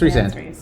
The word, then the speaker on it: Rhysand: Oh, what do you call him? Riz. That's Riz, bro. He's Dear goated. friends, it's a mini sip for any time Rick mispronounces a name. All right. It's Rhys. Isn't it Rhys? It's Rhys. It's Rhysand. Rhysand.